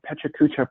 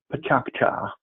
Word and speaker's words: Pechakucha: It is called a Pechakucha presentation, or if you pronounce it correctly in Japanese, it's more like Pachakcha.